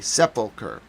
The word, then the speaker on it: sepulchre: Sepulcher. It's pronounced very differently than you would think upon looking at it for the first time.